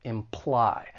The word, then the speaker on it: imply: So when it comes to pronouncing this verb, it has two syllables. The stress is on the second syllable, imply.